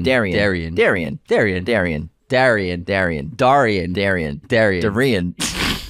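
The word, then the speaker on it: Derynne: it they keep yeah we keep saying Darren but it's pronounced Darion keep up the amazing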